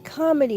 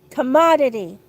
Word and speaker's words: commodity: I'm going to continue saying comedy, but I know that's not how to say it. Commodity.